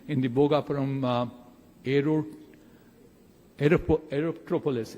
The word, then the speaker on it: Aerotropolis: the Bogaparum aerero aerop Aerotropolis erotropolis that's how it's getting rightly pronounced and what can we